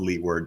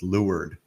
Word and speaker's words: leeward: it's not and it's it's spelled leeward but it's lured because yeah i imagine